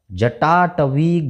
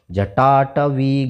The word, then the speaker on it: जटाटवी: जैसे यहाँ पर जटाटवी गलत जल। अब यहाँ आधे ज के बाद पूरा ज आया तो इसको थोड़ा तेज पढ़ना है। जटाटवी गलत जल प्रवाह पावित